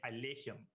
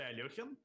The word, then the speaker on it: Alekhine: apparently pronounced his name alaihim not not a y o but an e sound so most russians will say alyohim but apparently he himself